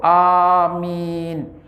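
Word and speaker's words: آمين: alaihim waladholin maka beliau membacanya tuh Amin beliau panjangkan bacaan pada A dan minimnya amin Hai itu bagi mereka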